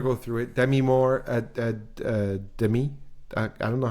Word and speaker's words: Demi: Demi Moore Demi. I don't know how they say her name. She said no. She doesn't actually say Demi. I think it's Demi.